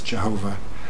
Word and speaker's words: Jehovah: characteristics by which god goes are yhvh sometimes pronounced with the vowels jehovah and elohim yhph is often translated as the